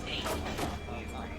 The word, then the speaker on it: Ayn: It's not Anne, it's Ayn. Ayn Rand.